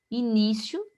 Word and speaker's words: início: Início tem acento, porque aqui eu já tenho, né, uma paroxítona que eu inicie, início, né? O ni, que é a sílaba mais forte, eu tenho uma paroxítona terminada em io.